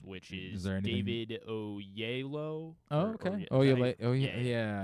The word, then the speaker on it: Oyelowo: Apparently, it's actually pronounced Oyelowo. Oh, really? I've never heard it. Oyelowo. I mean, I guess that's how it looks. It does look that way, but I could have sworn I've heard it pronounced.